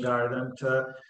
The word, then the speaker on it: Gardant: to everyone what garden means starting from the pronunciation garden to the effective meaning of this term for